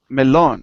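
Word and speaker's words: melón: in Ria Elon now notice that the O has an accent mark melon so if we have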